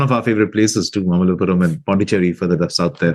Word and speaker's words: Mamallapuram: Yeah, Mamallapuram. Oh. Not only have you been to Mamallapuram, you also pronounce that perfectly, which a lot of people in India find difficult.